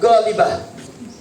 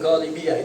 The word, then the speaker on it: ghalibah: Kemudian yang ketiga, ahlul ahwalil ghalibah. Jangan ghalibiyah, itu ya-nya tak ada sebetulnya. Ghalibah.